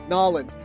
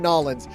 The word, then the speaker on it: New Orleans: That's how you pronounce that. New Orleans? Nolans. We're going Nolans.